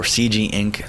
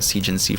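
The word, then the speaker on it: cginc: Or CG inc. I learned that's actually the proper pronunciation, but I just been calling it CGNC for such a long time.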